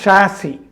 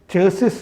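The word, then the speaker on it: chassis: കണ്ടെത്തിയിട്ടുണ്ട് ഒരു special vehicle ഷാസി ചേസിസ് എന്ന് പറയില്ലേ ഷാസി എന്നാണ് അതിന്റെ ശരിയായ ഉച്ചാരണം എന്നാണ് പറയുക അപ്പൊ സ്പെഷ്യൽ വെഹിക്കിൾ ചാസി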